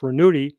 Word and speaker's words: Ranucci: attention reynado rasquel staged named for renato ranucci pronounced ranuti he was born in turin italy on april 27 1912.